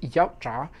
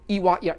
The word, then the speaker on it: Yautja: get comments where like it's not pronounced yautja, it's pronounced iwatya. It's fake. There's no actual pronunciation quiz. We never heard somebody that wrote the lore pronounce it. We've read it. It is said how it's pronounced on the wiki, and it's iwatya.